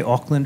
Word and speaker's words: Auckland: to be here thank you did I say ockland right he did I'm very sensitive about pronouncing names because mine is always mispronounced and